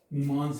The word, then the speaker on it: Mimamsa: The spelling is M-I-M-A-M-S-A. Mimamsa nahi. That is Mimamsa. That na, that is Sanskrit pronunciation, therefore it is called, written as such.